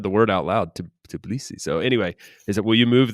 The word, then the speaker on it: Tbilisi: in I can't even, how do you pronounce the capital? Well, Tbilisi? Tbilisi is how I pronounce it, Tbilisi. but I haven't heard anyone from there pronouncing it, so I'm probably butchering It's a it.